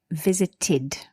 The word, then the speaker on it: visited: ed here good question the ed here is pronounced id visited okay shall we continue